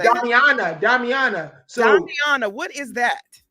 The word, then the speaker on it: Damiana: Damn Amina. How do you say that? Damiana.